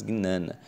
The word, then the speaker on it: Jnana: Gnana, que se fala Jnana, mas se escreve Jnana, mas se diz Gnana.